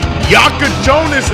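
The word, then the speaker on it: Jakučionis: Yakachonis is how you say bro's name.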